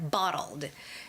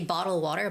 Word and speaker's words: bottled: um yeah bottled water bottled there's the Ed ending so you you shouldn't just say bottle water bottle water but there's that slight